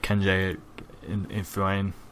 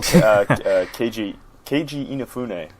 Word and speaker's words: Keiji Inafune: It's by I can never say his name, but Kenji Inafune. I don't know. Oh, Keiji Inafune. Yeah, that's the one. I butchered that one.